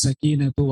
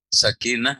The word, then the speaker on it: السكينة: Wa'alaikumus sakinatu wal waqar. Bi? Enggak, di sini enggak ada bi-nya. Baik. Wa'alaikum as-sakinatu wal waqar. Wal wiqaru. Sakinah atau sakinatu? Sakinatu.